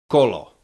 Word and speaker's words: kolo: O is always pronounced uh like O in the English words dot a lot dot lot or o. Repeat after me. Colo colo that means um